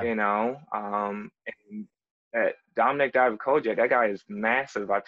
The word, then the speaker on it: Dijakovic: If he is getting called up, Dominic Dijakovic, is that how you pronounce his last name? Dijakovic, yep.